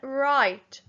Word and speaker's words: right: And next one, right. R-I-T. Right. R-I-T. Right. R-I-T. Right. And the I-G-H is making the I-I-I sound.